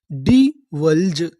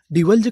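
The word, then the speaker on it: divulge: आपको एक रूल याद रखना है, अगर आपको इंग्लिश की किसी भी मीनिंग के आखिरी में ई लिखा मिले तो हम लोग ई का उच्चारण नहीं करते, हम लोग ई से पहले तक का उच्चारण करते हैं।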